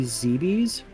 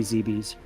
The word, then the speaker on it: Zebes: the planet oh um I believe it's supposed to be zbi I know I know there's like a million pronunciations for and I was always worried about that too but I'm pretty sure it's supposed to be zeb's I think I've always